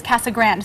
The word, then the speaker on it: Casa Grande: say C how do you say it I say well my husband is a native and he says cassa Grand so that's how I've always said it without thinking about it